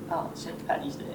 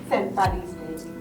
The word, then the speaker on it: St. Paddy's Day: St. Patty's Day St. Paddy's Day La prononciation est différente Un "t" ou un "d" ?